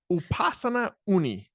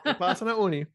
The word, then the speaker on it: Upasana Unni: Upasana Unni. Exactly. You nailed it, Tony. Awesome. Upasana Unni, Chief Commercial Officer at, and of course, I didn't ask how to pronounce the company, at Sayata.